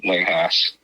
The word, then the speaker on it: Haas: And it's Haas. Is it Haas or Haas? It's pronounced, well, it's spelled like Haas, like Haas, but it's pronounced Haas, yeah.